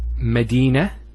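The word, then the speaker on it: مدينة: that doesn't occur here the word is Medina that's one thing I didn't mention the tat I actually pronounced the timer but as a hat Medina now if I stop on the Tamara butter it's actually pronounced as a her in both cases so himadina means a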